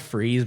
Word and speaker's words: Fries: I think it's pronounced freeze, but I say fries. No, it's spelled like fries, so I'm saying fries.